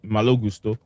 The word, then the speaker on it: Malo Gusto: The French people pronounce it like this. This is how they say it. Malo Gusto.